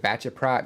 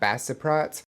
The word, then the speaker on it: Baceprot: right, but Voice of Bassaprot and I did learn from the comments that the the band's name is Voice of Bachap, not Bassiprot, but it was requested that I check them out.